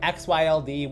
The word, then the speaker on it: XYLD: Today we have XYLD. We can just pronounce this Xyld.